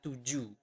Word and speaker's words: tujuh: But in Bahasa, we do not pronounce the H at the end of the word. So you do not pronounce it as tujuh, but tujuh.